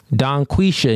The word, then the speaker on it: Donquisha: I just saying I ain't pronounced the G at the end. You want me to pronounce that? Donquisha. Yes. But if you say it fast, the G disappears.